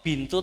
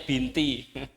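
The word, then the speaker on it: بِنْتُ: Kok bintu atau kan biasanya binti. Ya, jangan pakai perasaan. Soalnya pengalaman saya ngajar itu murid-murid saya itu masih pakai perasaan. Jadi mau baca bintu itu kayak asing. Sehingga bacanya binti karena sudah terbiasa di masyarakat binti. Ya, ini harus pakai kaidah.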